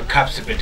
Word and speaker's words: Kapsabet: Wakati una pronounce Kapsabet, upana sema Kapsabet, it is not an English noun. Sio English ni Kapsabet.